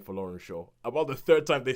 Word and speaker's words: Folorunsho: name is Georgia, and I will pronounce this last name properly because nobody in the film does. Folorunsho. That is the way you say it, Folorunsho. But the first couple of times they say this name in the film, I'm like, what the hell? What are you saying? Yeah. No, I actually thought it was a name of South American origin because they pronounce it like Folorinze.